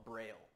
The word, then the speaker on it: Braille: l in French so it's like Louis braia or something like that is how it's pronounced in French he created in America we probably call it Braille and he created this